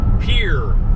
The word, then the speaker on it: Pierre: Pierre. For some reason they pronounce it Pierre, but it's Pierre. It's spelled Pierre.